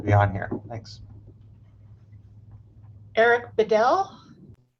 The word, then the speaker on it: Bedell: Eric Bedell. Sorry if I screw up the pronunciation on that. No, that's perfect. My name is Eric Bedell.